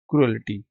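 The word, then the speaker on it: cruelty: Evils क्र क्रुलिटी injustice अच्छा लोग इसको अक्सर ना क्रुलिटी भी पढ़ते हैं। क्रुलिटी नहीं होता क्रुलिटी होता है। ठीक है? सी आर you crew E एल टी वाई एल टी क्रुएलिटी।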